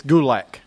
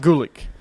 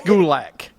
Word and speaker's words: Gulak: gou and uh darari it's gulak not Gulick you said gck last week yes you did it's gulak you'll say it say